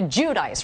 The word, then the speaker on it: Giudice: last name okay okay so we're all supposed to call you Teresa judice right not Jud Jud I mean that's the Italian way but nobody knows how